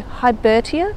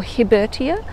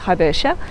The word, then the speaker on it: Hibbertia: man named george hibbett when pronouncing botanical names it's actually correct to pronounce every vowel so hybertia or hibertia is probably the correct pronunciation although most people just refer to it as habersha so long as people